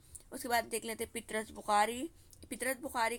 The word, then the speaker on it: पतरस: इनके जो इंतखाब मज़ामीन पितरस, मज़ामी कुलियात पितरस, तख्लीक़ात सॉरी पतरस है इनका नाम, ठीक है, पितरस नहीं पतरस, प्रोनाउंसिएशन गलत निकाल रही मैं, पतरस बुखारी।